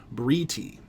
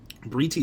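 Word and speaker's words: בְּרִיתִי: It would be the exact same letters and vowels, but if the accent were on the second syllable, then this would be the verb. Since it's on the final syllable, it's the noun. Briti. Briti is my covenant.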